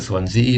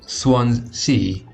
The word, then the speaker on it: Swansea: it says this so apparently it is swans e not swans C if you can hear